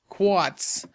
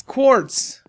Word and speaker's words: quartz: some quats on it quats that's not how you say it it's it's quartz come on man okay